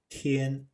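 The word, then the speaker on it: 天: Underneath, we have a Chinese character which is a word pronounced tian and means sky or day.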